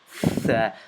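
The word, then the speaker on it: ث: And this is part of warm-up number 3, the letter thaa, and how to pronounce it, and how to stick your tongue out between your teeth, and thaa, thaa, thaa.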